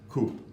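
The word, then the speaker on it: CUP: You can get your health card at what's called a COOP, but the spelling is C-U-P, okay? But it's pronounced COOP.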